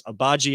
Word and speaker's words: Agbaji: I know it's Agbaji as his last name.